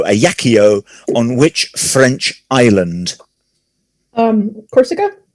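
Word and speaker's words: Ajaccio: napoleon bonaparte was born in a yakio aj a double c i o a yakio on which french island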